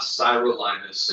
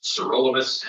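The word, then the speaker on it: sirolimus: It's not cyrolymus, it's not tacrolymus, it's cerolamus and trollamus.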